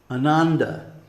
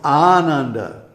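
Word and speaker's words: Ānanda: any other way so when I hear for example a western speaker pronounced the word Ananda no it's Ananda you see and you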